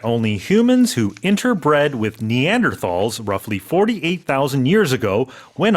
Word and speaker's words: Neanderthal: In English, we say Neanderthals.